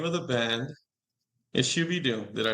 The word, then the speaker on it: Shoo Bee Doom: way everybody the name of the band is shuy Doom did I say it correctly shuy Doom yes yes definitely yeah I me yeah the